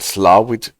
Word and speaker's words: Slaithwaite: The station that we just passed is pronounced Slowwit. Slawit. All right. Is that Gaelic then? Slawit? Slowwit? Well, Slawit.